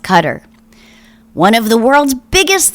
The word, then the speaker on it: Qatar: they're um they're rich trump does business there cutter which i always want to call qatar but i've been told enough times that it's pronounced qatar one of the world's biggest sponsors of terrorism